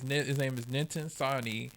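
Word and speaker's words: Nitin Sawhney: I've been saying his name wrong for so long, and I feel so bad. His name is Ninten Sani.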